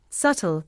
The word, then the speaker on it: subtle: It is also silent in words such as doubt, subtle, debt, and debtor.